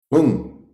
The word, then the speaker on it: Hung: Hung, okay, H-O-O-N-G. But I think when it's spelled out, it's H-U-N-G. So it's Omahung, Omahung, Omahung.